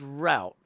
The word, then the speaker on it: route: For these parade float build contests, every contestant has 1 hour to build a parade float along the parade route, which doesn't rhyme with rote, which is annoying.